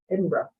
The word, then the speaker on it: Edinburgh: They say Edinburgh, but it's spelled Bird. Edinburgh.